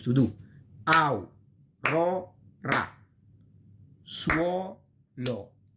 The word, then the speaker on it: suolo: Suolo. This is a diphthong inside the syllable. Okay, you have the S and then the two vowels, and then you have another syllable is lo.